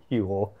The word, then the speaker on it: Huel: Huel? Rhymes with fuel, then that's why they did it.